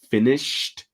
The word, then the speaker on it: finished: interface update finished so careful with the pronunciation it's with a t sound finished we need to get